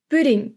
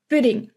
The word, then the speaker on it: pudding: the last word is pudding and there you have to be careful of the U pudding it's very silent buding so those are four